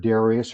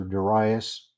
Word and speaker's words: Darius: the first year of Darius or daras ever how you want to pronounce that it gets this vision